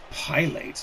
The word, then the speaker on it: Pilates: Pilates? Isn't that that's No, that's it's pronounced Pilates. It's an exercise. Oh, it sounds like it's a P like a thing you would do in an airplane.